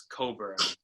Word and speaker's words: Cockburn: to sumu and coburn his name is actually it's spelled cockburn but it's coburn they're literally like um